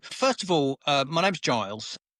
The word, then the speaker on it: Giles: So first of all, my name's Giles. Not Schofield. Schofield is not part of my name. Americans actually often mispronounce it to Schofield, but it is in